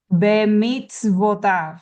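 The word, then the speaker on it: בְּמִצְוֹתָיו: This is pronounced as a vo. Even though it has the dot on top, it's bemitz Okay.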